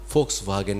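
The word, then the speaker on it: Volkswagen: নাম নাকি ফোক্স ওয়াগেন আমি চিরকাল ভক্সোয়াগান ভোক্সগান বলে এসছি তবে সেখানে গিয়ে আবার ধমক যেখানে এখানে ভিগ এর উচ্চারণ হচ্ছে ফোক্স ওয়াগেন তুমি তোমাকে বলতে শিখতে হবে ইত্যাদি ইত্যাদি তো যাই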